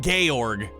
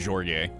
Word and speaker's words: Georg: Fucking Georg, right? I said it right this time. It's not Jorge.